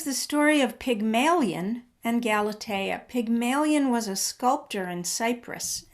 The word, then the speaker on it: Galatea: sure if i'm saying it right is it galatia galatea yeah yeah yeah that was another oh good ones so yeah okay um well that was the story of pygmalion and galatea pygmalion was a sculptor in cyprus and cyprus